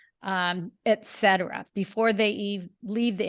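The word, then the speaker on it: et cetera: and it really is I believe it's Latin and it's really two words at ET so at and then Etc Etc you're saying say it again you're saying at Etc so ET and etc etc etc yes right and Etc it always helps me pronounce something if I can see in my head the way it's spelled and so Etc is e t and then the cetera is c e t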